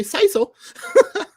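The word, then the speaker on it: CISO: are some that say see so there are some that say saiso um and and I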